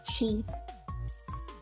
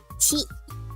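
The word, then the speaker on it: ち: Not T, but chi. Chi. Okay? It's pronounced chi.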